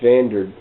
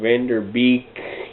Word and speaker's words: Van Der Beek: uh in this film pretty much uh james vander i was let's say his name wrong van der beek you know the guy from dawson's creek he